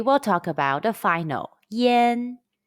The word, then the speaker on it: yan: repeat after me chi yen chin chin tin tin chin is thousand in chinese question when you see y-a-n and i-a-n in ping-ing how would you pronounce it the answer is yen are there any topics